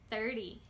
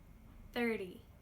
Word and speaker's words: thirty: Now, just so you know, T's don't often make D sounds, but in these numbers I find a lot of native speakers do make this sneaky little D sound (like dog) and it is very helpful in telling apart the multiples of ten, these -ty numbers, like 30 and the teen numbers like 13.